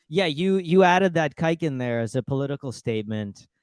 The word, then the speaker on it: Khaykin: you you added that kiken there as a political statement in what's happening right now don't pretend that's not what you did no I'm just kidding uh it's it's a silent k yeah so anybody would